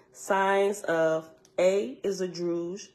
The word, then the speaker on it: Druj: of a is a drouge rhymes with stood and B droop it's